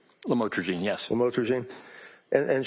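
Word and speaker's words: lamotrigine: Did I pronounce that right? Lamotrogene.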